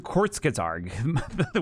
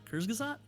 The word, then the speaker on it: Kurzgesagt: Because there's like according to Kurzgesagt, where I get all my information.